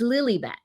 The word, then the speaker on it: Lilibet: let's be honest, or Lilibet. And it's so dumb. They named her after quote unquote the queen, but they don't pronounce it that way. It's Lilibet because they want to call her Lily.